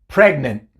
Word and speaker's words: fragment: escuchaste la oclusión global otro ejemplo fragment fragment no es pregnant tampoco spring pero es training fragment la oclusión global viene después de la n en este caso porque la n es una consonante sonora fragment bueno entonces aquí la